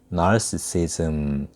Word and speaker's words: narcissism: 영어로 발음 알아두세요. 나르키서스를 영어로는 narcissus 이렇게 발음하고요. 나르시시즘을 영어로는 narcissism 이렇게 발음합니다. 비슷비슷하죠.